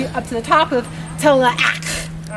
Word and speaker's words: Tallac: Back then it's 3 syllables, Tallac. And it's a guttural sound. So up to the top of Tallac.